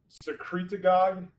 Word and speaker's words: secretagogue: It binds to what's called the growth hormone secretagogue receptor, like synagogue, but secretagogue.